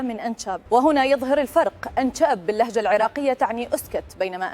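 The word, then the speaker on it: إنچب: كلمة أنشأب تنقال بحرف ش واضح وتعطي إحساس قوي يوصل المعنى مباشرة بدون مقدمات.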